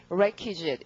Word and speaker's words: requisite: 그래서 필요하다니까 접두어는 뭐가 될 것이고 re가 될 것이고 강세가 앞에 떨어집니다. 그래서 발음이 requisite 이랍니다. 자, requisite 필요 조건, 그 다음에 필수 과목, 성결 요건.